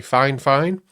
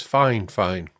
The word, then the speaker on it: FiFine: Now this is a dynamic microphone made by Fine Fine. That is actually the way you're supposed to pronounce it. They told me. I've always thought it was Fine, but it's Fine Fine.